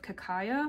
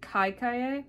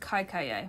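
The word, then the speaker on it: Kaikeyi: It says she's the only daughter of the kingdom of Kakaya. I found a video from the author, and I'm gonna hear her pronounce it. Okay, I was definitely pronouncing it wrong. She's pronouncing it Kaikaye.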